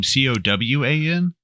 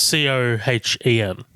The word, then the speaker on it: Cohen: This is produced by Rob Cohen. And, I saw that. That means you like Fast and Furious by proxy. So. Oh yeah. What is that? I thought this is his name. Cowan. No, it's Cohen.